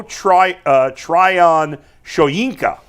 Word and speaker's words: Tryon-Shoyinka: The Browns today, or yesterday, I guess today it'll become official probably, signed former Buccaneers first-round pick Joe Tryon-Shoyinka, is how you pronounce it.